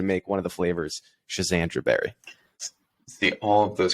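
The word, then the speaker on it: Schisandra: And a different conversation that I heard you have recently, you mentioned a Schizandra berry. I may be saying that. Be saying that wrong, but no, that is a correct pronunciation.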